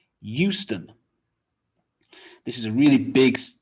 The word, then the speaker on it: Euston: say this one so you might think eu eu euston not quite it's just houston houston this is a really